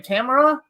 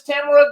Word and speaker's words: Tamara: tomorrow um so Ron on the west coast it's Tamara in the midwest here it's Tamara and on the East Coast it's Tamara so in Brooklyn it's that too so yeah